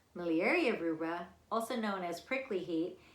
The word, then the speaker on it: miliaria rubra: act up even more malaria Ruba what is how you say well not to be mistaken with malaria miliaria rubra also known as prickly